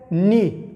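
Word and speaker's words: knee: لکه نی، دا به کینی نه وایه، ورته ګوره کینی به نه وایه ځکه چې دغه کې نه تلفظ کیږي، دا سایلنټ ده.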